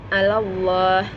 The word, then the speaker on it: Allah: Namun saya akan berikan contohnya yaitu Allah. Maka membacanya sebelum lam jalalah terdapat huruf berharkat fathah, maka harus dibaca tebal.